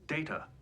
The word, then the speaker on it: Data: thing with her in data which feels kind of weird my name it is pronounced data oh you called me data what's the difference and then she's like